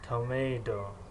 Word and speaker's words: tomato: خصوصا حرف ت در بعضی حالت چه تلفظ کرده می‌شود، مثل کلمه picture، picture. در بعضی حالت تی پر، در بعضی حالت د، یعنی tomato، tomato، tomato.